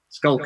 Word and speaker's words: Schalk: time i'm joined by okay you pronounce it skull and you are in